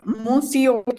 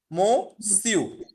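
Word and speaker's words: monsieur: বাট ফ্রেঞ্চের ক্ষেত্রে ও এন, যখন এন এর সাথে হচ্ছে গিয়ে আগে ভাওয়েল থাকবে, তখন এটা হচ্ছে একটু নাকে সাউন্ড হবে না, এটাকে বলা হচ্ছে নেজাল সাউন্ড। যেমন ও এন এর উচ্চারণটা হচ্ছে অ, অ, ঠিক আছে? মো, মো সিউ, মো সিউ, বলেন আমার সাথে বলেন, কোনো আচ্ছা, সমস্যা নেই।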